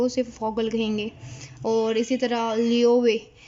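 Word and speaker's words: Vogel: और फॉगल, ये भी मैंने आपको बताया था कि वी जो है वो एफ़ की साउंड प्रोनाउंस करता है जर्मन लैंग्वेज में। तो इसको हम फॉगल नहीं पढ़ेंगे, बल्कि इसको वॉगल नहीं पढ़ना, हमने फॉगल पढ़ना है।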